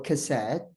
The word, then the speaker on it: cassette: for cassette okay so C for cassette is pronounced K on the other hand